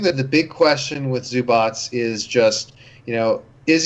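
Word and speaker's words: Zubac: right get beat says zu BOTS okay is he by bomb he says zu BOTS like an embodied Eva exactly yeah yeah yeah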